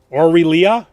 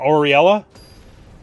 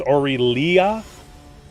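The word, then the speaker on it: Aurelia: you know this standplay orillia not auriela it's orillia is that the only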